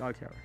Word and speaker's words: octtower: If you don't know who I am already, that's how I always pronounce it. If you don't even know how I pronounce my fucking name, it's octtower.